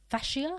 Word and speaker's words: fascia: And then they'll reach what's called the fascia, is that how you pronounce it?